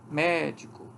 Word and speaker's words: médico: os mesmos segmentos de medico A única diferença entre essas duas palavras que aqui eu tenho o acento na anti penúltima sílaba proparoxítona médico e aqui é paroxítona mesma coisa acontece aqui